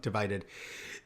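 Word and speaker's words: Divi-Dead: My friends and I when we played the game is uh we called it Divi Dead cuz of the way it's spelled, but it's supposed to be pronounced Divided.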